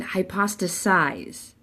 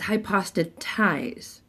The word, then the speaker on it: hypostatize: it totally wrong and they pronounced it wrong they said high pasta sighs it's high pasta ties now hypothesize might mean something